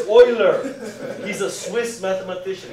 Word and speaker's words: Euler: It's Euler! He's a Swiss mathematician. It's pronounced Euler. If you go to college and you say Euler, you're going to be laughed out of the dormitory.